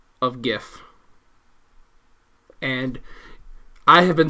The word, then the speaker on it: GIF: on the pronunciation of GIF, and I have been saying the correct and only correct pronunciation of the freaking word It's GIF, not GIF. It is not GIF.